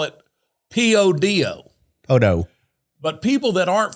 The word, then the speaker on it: Podo: People that live in Podo call it P-O-D-O.